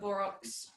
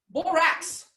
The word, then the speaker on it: borax: two two teaspoons of borox am i saying it right borox borax borax not bore out borax um we're gonna put